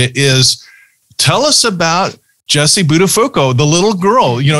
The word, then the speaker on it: Buttafuoco: So the first question we're going to throw at you is, tell us about Jessie Buttafuoco, the little girl, you know, your earliest childhood